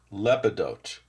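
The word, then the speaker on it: Lepidotes: Lepidote. Emphasize the lep.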